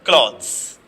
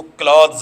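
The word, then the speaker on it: clothes: Wear क्लॉथ्स, इसको क्लॉथ्स बोलेंगे, क्लॉथ्स, क्लॉथ नहीं बोलेंगे, क्लॉथ अलग वर्ड होता है, ये क्लॉथ्स है।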